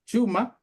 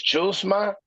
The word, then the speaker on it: Chuma: So first of all, okay, you're gonna say his first name like a Chicano talks to his girl, like he says, "Hey babe, what's up, ma?" And then she says, "Who you talking to?" He says, Chuma.